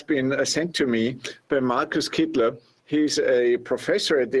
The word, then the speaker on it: Kittler: Am I pronouncing it correct? Markus Kittler.